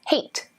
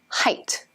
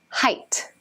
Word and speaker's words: height: students pronounce this as hate as in freight more weight you probably guessed by now but that's wrong so how do we pronounce this height height with a long eye what does that mean